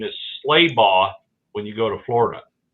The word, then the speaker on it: Schlabach: How do you say Travis's last name? Schlabach. Travis, confirm. Schlabach. Oh. No K on the end of it.